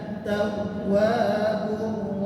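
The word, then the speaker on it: التواب: Nah, di sini juga di huruf waw sama seperti ya yang bertasydid, jadi agak sedikit ditekan, ya. Antat tawwabu, at-tawwabu, di huruf waw yang bertasydid di tengah kalimat itu ada penekanan.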